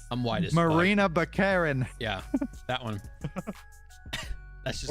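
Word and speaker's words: Morena Baccarin: Moriana Barcine, who portrayed Vanessa in the You first two. totally just said Look, that name wrong. I'm white as fuck. Marina Baccarin.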